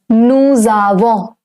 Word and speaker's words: nous avons: Because whenever the word nous, it is followed by a vowel, the pronunciation changes from nous to nous. It's known as liaison.